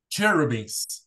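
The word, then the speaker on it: cherubim: who are terrible yeah CH is Chuck like church beans cherubis very good okay so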